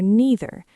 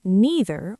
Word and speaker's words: neither: The same is true for neither. You can say neither or neither.